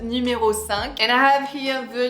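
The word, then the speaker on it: numéro cinq: is of course the Chanel numero s so not number five but numero s and I have here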